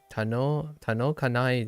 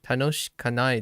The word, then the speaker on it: 楽しくない: Yuki no hi wa amari tanokanai desu. Yeah, tanoshikanai desu. Whoops, I missed a syllable.